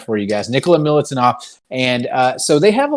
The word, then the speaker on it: Nikola Milutinov: Nikola Milutinov.